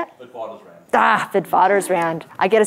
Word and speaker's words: Witwatersrand: Witwatersrand.